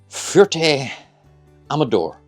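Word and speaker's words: Fuerte Amador: Anyway, tomorrow we are arriving in uh Fert Amadore. Excuse my pronunciation.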